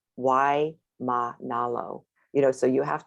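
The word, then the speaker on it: Waimānalo: Something Monolo or something, but you don't say M-A-N, it's ma, breaks the syllable, then the next one starts, you know, so that's like Kapi'olani Boulevard, why ma nalo, you know, so you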